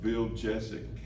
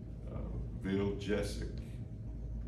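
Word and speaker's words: Vujicic: Bill or apartment Nick bill jessic and that's the way you pronounce his last name but it's not spelled like that nil apartment Nick bill jessic and I want to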